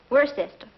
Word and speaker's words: Worcester: But it's spelled W-O-R-C-E-S-T-E-R. Worcester.